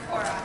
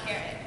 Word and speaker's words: Cora: Actually, it's pronounced Cora, not carrot.